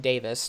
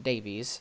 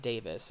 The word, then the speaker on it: Davies: home the fact that his last name is pronounced Davis I think it's a